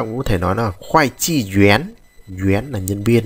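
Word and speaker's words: 会计: Từ tiếp theo chúng ta có từ khoai chi, chúng ta đọc nhanh này, chữ này đọc là chữ khoai chi, có nghĩa là kế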